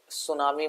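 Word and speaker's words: tsunami: इज any silent letter सुनामी में टी नहीं आता नॉलेज में के नहीं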